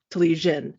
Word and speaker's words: Telizyn: name yeah so that my last name is talisian and though it's read in um english as zinn it's because it was misspelled when it translated from cyrillic so my background is ukrainian um and so talishin is is how you pronounce it so infinity design based